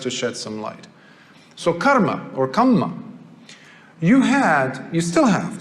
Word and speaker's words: karma: And then you had the Jainist position towards karma. I say karma because that's how they say it. We call it kamma, but it's the same thing.